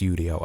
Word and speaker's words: Udio: Now, it's pronounced Udio. I've done enough research on the internet to tell you that it's just Udio. I was going to call it audio, but thank goodness I did not say that.